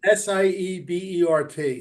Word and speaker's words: Seibert: In preseason, he was giving Siebert, or is it Seibert? How do you pronounce his name? I pronounce it Seabird. It's Uh-huh. Siebert.